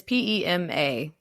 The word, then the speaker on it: Pema: Like, once I see it, I'll be like, yep, that's how that's pronounced. Mm-hmm. It's Pema.